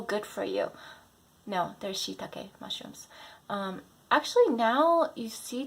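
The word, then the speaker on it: しいたけ: Number 5, Shiitake mushrooms, not shiitake mushrooms. My friend the other day said, "Oh, I heard shiitake mushrooms are so good for you." No, they're shiitake mushrooms.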